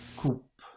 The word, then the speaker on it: coupe: coupe, Coupe. It's C-O-U-P-E. Coupe. 44. Listen again to these words. Is the final E pronounced? Date, vide, coupe. The answer is no.